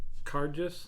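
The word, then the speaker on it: Cairdeas: then i got into i believe is pronounced card just is what i've heard um it means friend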